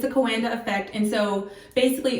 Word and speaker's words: Coanda: Just Google the pronunciation and I was correct. It's the Coanda. It's the Coanda effect.